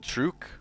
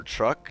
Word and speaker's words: Truk: Her next campaign focused on the atoll of Truk, or Truk, depending on how you say it. There's 2 ways to say it, really.